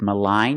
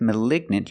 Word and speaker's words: malignant: With malign, you have the long I malign. And with malignant, you have the short i, the i sound. Malig. Malignant.